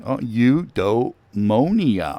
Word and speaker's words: Eudaimonia: Look, he gives a definition and a pronunciation key. Eudaimonia.